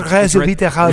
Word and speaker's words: resveratrol: It's pronounced resveratrol.